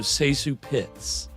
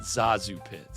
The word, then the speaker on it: ZaSu Pitts: A lot of people pronounce it Zazu, but it's apparently pronounced Seu. So Seu Pitts, not Zazu Pitts.